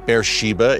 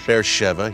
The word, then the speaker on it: Be'er Sheva: with you tell beersheva beersheba it reads uh on the page but it's pronounced beersheva here in israel a place of incredible